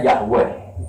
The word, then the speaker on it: Yahweh: Wong Yahudi menyembah itu tulisan kapitalnya Yahweh, Y dengan huruf kapital, A dengan huruf kapital, H dengan huruf kapital. W dengan huruf kapital, E dengan huruf kapital, H dengan bacanya Yahweh.